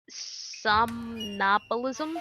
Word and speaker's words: somnambulism: Somnambulism. That's how it's pronounced.